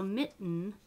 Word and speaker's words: mitten: So mitten, so that nasal becomes a syllable. Mitten.